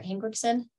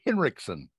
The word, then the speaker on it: Hinrichsen: Is it Hinrichsen or Hinrichsen? It's Hinrichsen. Hinrichsen.